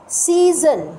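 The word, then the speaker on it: season: আমরা এস এস ওন তাহলে প্রথম এস টা তো সউন্ড আছে কিন্তু পরের এস টা কি পরের এস টা প্রথম এস টাতে সাউন্ড পরের এস টাতে কি পরের এস টাতে সি জান জেড এই সাউন্ডটা হচ্ছে জা সাউন্ড এক্সকিউজ মি সাউন্ড তাহলে প্রথম লেটারটা আমার যদিও এস তার সাউন্ডটা সা কিন্তু সেকেন্ড লেটারটাও এস তার সাউন্ড কিন্তু সাউন্ড কি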